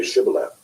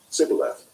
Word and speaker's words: Shibboleth: When he said no, they said to him, Then say Shibboleth. And he said, Sibboleth, for he could not pronounce it right.